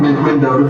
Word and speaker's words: Mendota: Mendota? How you say it? Yeah. Okay. Is that how you say that? That's right. Mendota, M-E-N-D-O-T-A, Virginia.